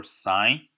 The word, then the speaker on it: sine: So one thing I like to mention is you kept seeing me write the sine theta. So I pronounce it as sine theta.